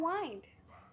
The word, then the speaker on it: wind: Now reader, always bear in mind the difference between wind and wind. The latter rhymes with rind and kind.